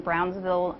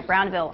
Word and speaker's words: Brownville: now reactor engineer at Cooper Nuclear Station in Brownsville Nebraska huh oh I'm sorry Brownville I'm not from there so I pronounce things wrong and we're going to talk